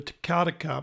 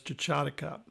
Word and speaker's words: Techatticup: The New Era had a contract to crush rock for the Techatticup Mine, or some people pronounce it as Techatticup.